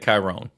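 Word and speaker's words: Kyrone: I would pronounce that chirone exactly and the English like k y r o n e like Tyrone but with a K and in the English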